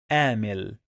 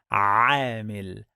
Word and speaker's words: عامل: Many people, they get confused and they pronounce this letter like letter A in English.